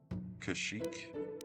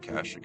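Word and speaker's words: Kashyyyk: Um anyways, so today we are going to Kashik or they call it Kashik in this game.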